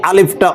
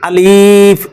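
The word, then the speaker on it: ألف: আসুন শুরু করা যাক আলিফ আলিফ আলিফ আলিফ আলিফ আলিফ আলিফ এই আলিফটা অনেকে আলিফ এভাবে টেনে পড়ে এভাবে পড়লে ভুল হবে এটা পড়তে হবে দ্রুত আলিফ আলিফ আলিফ আলিফ আলিফ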